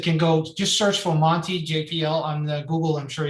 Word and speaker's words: Monte: Our code is called Monty. It's spelled MONTE.